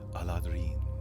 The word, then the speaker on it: Eladrin: Eladrin is the way it's spelled in the book. It's more fanciful in Elvish, but that's the common spelling. Most people in common would call it the Aladrin, but the Aladrin is how it's pronounced in Elven, which, of course, everything